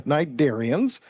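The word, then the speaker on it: cnidarians: like to call the Nidarians. Now, the C is silent, but it comes from a Greek word meaning nettle.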